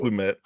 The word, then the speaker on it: Lumet: Like, it's very I always say Lumet because I always think it's LeMay, but I think it's not pronounced that way. I think it's Lumet.